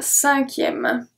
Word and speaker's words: cinquième: So here, the C at the beginning is pronounced as a S because we have the E after. So the E makes the C turn into a S sound, cinquième.